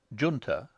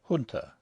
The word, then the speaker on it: junta: have chosen to use the pronunciation Junta rather than the more correct Junta, on the grounds that an aristocratic young Englishman of the Edwardian era would not stoop to use other than an anglicised pronunciation.